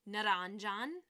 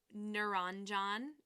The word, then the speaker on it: Naranjan: Naranjan, again, rolling your R. Naranjan is how you say it.